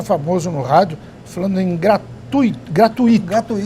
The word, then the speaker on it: gratuito: esse povo se esquece quando você tem um ditongo o ditongo deve ser pronunciado numa só emissão de voz gratuito fortuito intuito fluido